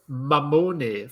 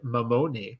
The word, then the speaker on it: Mamone: Joseph, as I said, Mamone, but I'm going to say Mamone just because it's easier from #basketball. Joe, how are you, man? Mate, you almost sound Italian with that pronunciation of Mamone.